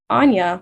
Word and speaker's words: Anya: So saying something like, oh gosh, I haven't taken the time to tell you that in fact, my name is pronounced Anya, like Tanya.